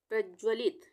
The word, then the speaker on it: प्रज्वलित: प्रज्वलित, प्रज्वलित, यहाँ पे ध्यान से देखेंगे, प्रज्वलित में प में वही रेफ की मात्रा, पदेन की मात्रा है, ये र के उच्चारण के लिए आधे, और उसके बाद ज्वलित है तो यहाँ पे दोनों ज आधे आएंगे, पूरे नहीं आएंगे, प्रज्वलित।